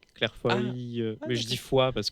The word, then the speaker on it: Foy: Mais ça s'écrit Foïs comme. Non, mais elle, c'est un Y, Claire Foy.